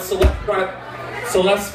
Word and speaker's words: Celeste: It was entitled Celeste Rhymes with Molest and Other Things to Remember When Naming Your Child.